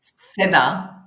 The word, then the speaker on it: Seda: And today, if people don't know this, is Seda, did I pronounce that Seda? Is that correct? Seda.